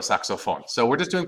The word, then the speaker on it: saxofón: Not saxophone, pero el saxofón.